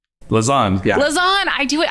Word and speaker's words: Lausanne: Lausanne, yeah.